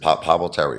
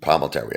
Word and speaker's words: Palminteri: Is it Palminteri, right? Mm-hmm. Chaz, right? Palminteri, I believe that's the right way to say it.